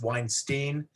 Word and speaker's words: Weinstein: very much actually uh my last name is pronounced weinstein half the family says weinstein i'm gonna have to